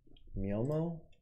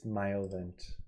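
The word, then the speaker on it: Myovant: Miomo? Nope, it's Myovent.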